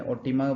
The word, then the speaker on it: Otima: और उसकी पत्नी है ओतिमा। ट भी साउंड प्रोनाउंस होता है और समटाइम्स त होता है, वो प्रोनाउंसिएशन पे है। OTIMA, ओटिमा प्रोनाउंस करते हैं इसमें।